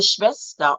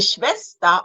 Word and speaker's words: Schwester: Remember, W is V. Ich habe eine Schwester und einen Bruder. Sie sind beide verheiratet, verheiratet und haben auch Kinder. Meine Schwester und Nichte leben in Köln.